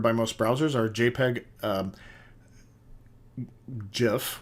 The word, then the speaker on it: GIF: most browsers are JPEG, GIF, which I don't like the pronunciation, but that's how the guy who created it made it, so I prefer GIF, but it's actually supposed to be GIF, which makes me sad.